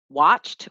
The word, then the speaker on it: watched: Watched, we're not going to say walk. No, it's just watched. TCH is one sound.